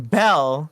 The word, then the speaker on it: Belle: So, how come with the name Belle, the E is silent at the end? Like the E like it doesn't exist?